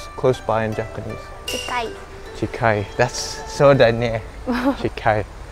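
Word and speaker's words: 近い: Chikai.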